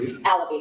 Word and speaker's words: Alabi: Abbasi, I don't want to say her name wrong. Alibi. Alabi, Ms. Alabi is legal counsel now.